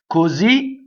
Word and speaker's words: Così: Così, the accent's on the Z. Così l'effluvio. So here we have a double syllable word that causes a phrasal doubling because of the short accent at the end.